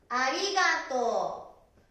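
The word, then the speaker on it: ありがとう: ありがとう、ここが伸びます。発音はおだね。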